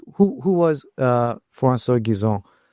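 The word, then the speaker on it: Guizot: But who who was uh Fanso Gizone? Uh pronunciation is perfect by the way that one too.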